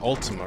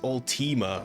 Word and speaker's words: Ultima: tones nope I'm out at least I've been pronouncing Ultima right it's that old Tema or something crazy like that it's like oh it's